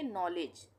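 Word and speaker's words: knowledge: यहां पर नॉलेज के का उच्चारण नहीं हो रहा है तो नॉलेज नहीं पढ़ेंगे इसको हम पढ़ेंगे नॉलेज।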